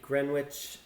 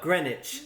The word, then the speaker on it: Greenwich: a picture of the Greenwich Mean Time no Greenwich very good sorry well done I